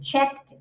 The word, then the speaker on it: check: Esse sonzinho que tem um T e mais essa cobrinha, que é o som sh, ele tem uma explosãozinha, então ele faz tch. Então, you pronounce check.